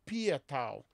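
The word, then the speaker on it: Patau: trissomia do 13 ou síndrome de patal patal né que seria a pronúncia correta do Alemão né A grande maioria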